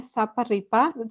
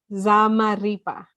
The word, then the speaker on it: Zamarripa: Manuel Zamarripa. Sorry, I just butchered your last name. Zamarripa.